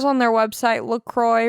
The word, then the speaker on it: LaCroix: Some people say LaCroix, but it says on their website LaCroix rhymes with enjoy.